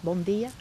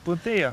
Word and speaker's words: bom dia: Bom dia? Bom dia.